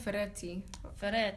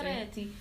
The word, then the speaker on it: Ferretti: It's actually called Ferretti. Yeah, you have to really pronounce it. You know, Italian, guys. Italian, obviously. Ferretti.